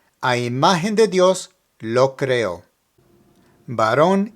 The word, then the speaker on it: creó: Lo creó.